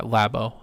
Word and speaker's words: Labo: Yeah, Labo.